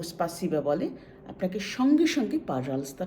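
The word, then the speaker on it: пожалуйста: আপনাকে যদি কেউ স্পাসিবা বলে আপনাকে সঙ্গে সঙ্গে পাজালস্তা টা বলতে হবে পাজাল এই যে রে এই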